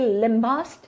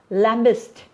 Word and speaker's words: lambast: So you can even say lambast or lambist, because both pronunciation are right, UK as well as US.